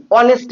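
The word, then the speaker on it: honest: উদাহরণটা দেখো, হি ইজ অনেস্ট ম্যান। এখানে আমার দেখতে হবে অনেস্ট যে উচ্চারণটা করলাম আমার প্রথমে সাউন্ডটা কি আসে, অ।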